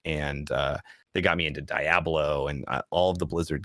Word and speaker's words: Diablo: Diablo. This is the first you've been challenged on that pronunciation? Diagram. Like Diablo. Diagram.